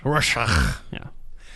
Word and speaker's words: Rorschach: It's pronounced Rorschach.